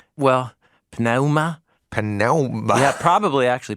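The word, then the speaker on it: πνεῦμα: They hit that P.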